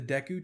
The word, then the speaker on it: Deku: remember getting into the deku tree dick how do you say it deku yeah deku tree uh in that